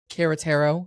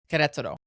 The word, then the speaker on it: Querétaro: Everybody says Querétaro, like that's like the American white way to say it, but it's Querétaro. That's how you say it.